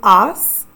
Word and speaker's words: has: Our two form is ass. H A S. Again, it's pronounced as a.